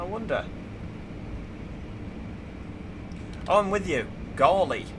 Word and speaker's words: Gawley: Gawley. My name is pronounced Gaul, like ball, and E. Gawley.